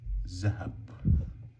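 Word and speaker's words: ذهب: But in spoken Arabic I would actually pronounce it as zahab.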